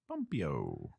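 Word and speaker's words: Pompeo: quote from is it Mike Pompey Pompeii the I can't pronounce it p-o-m-p-e-o pompio ahead of the head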